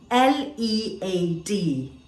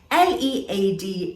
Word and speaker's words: lead: let's try this one l-e-a-d now this can be pronounced in two ways and it will have different meanings l-e-a-d lead a metal that we're all familiar with and l-e-a-d lead something that many people want to do where others follow you